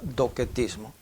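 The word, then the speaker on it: docetismo: & ismo aunque se escribe 12 mismo se pronuncia dockett ismo el adopción mismo consistía en que ya que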